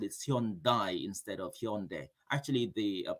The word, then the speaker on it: Hyundai: say they they they call it instead of hyundai actually the pronunciation is hyundai it's not some song but some song all